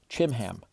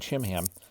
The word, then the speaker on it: Chimham: The king went to Gilgal, and Chimham, it's probably pronounced Kimham. It's a CH, so it could be a K sound or the CH sound.